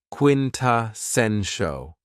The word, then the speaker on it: quintessential: Another very cool adjective is quintessential, and this word has 4 syllables, and the stress is on the third syllable, quintessential.